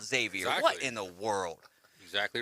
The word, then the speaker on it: Xavier: it to be called Xavier what in the world exactly right but Don said just educate yourself that's the that's the easiest way to do it it always that's right the ex is silent my bad it always